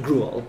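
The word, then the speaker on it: Griaule: Shepard told me the right pronunciation is Gruel.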